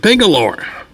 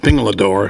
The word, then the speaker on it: Pingalore: And before finally I was reminded by JJ that it was not Pingalador, it was Pingalore.